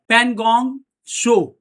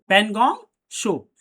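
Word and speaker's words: Pangong Tso: यहां एक झील है जिसका नाम है पनगोंग शो। पनगोंग शो। ये टी जो है ना टी यहां पे साइलेंट होता है। इसीलिए एस ओ शो ही हम पढ़े। पनगोंग शो।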